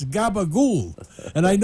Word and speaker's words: capicola: know how to say it's not capicola it's gabagool and I know you